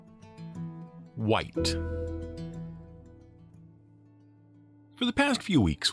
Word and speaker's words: Wight: color of the box w-h-i-t-e but the monster's name which is phonetically identical is spelled w-i-g-h-t it comes from an